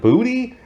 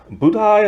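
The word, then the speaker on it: Budhi: first name is um sounds like booty I'm sorry that's what it sounds like it's b u d h i budai or something like that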